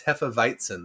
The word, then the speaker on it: Hefeweizen: that's not funny yeah elisa was very particular no it's heffa weitzen there's no n in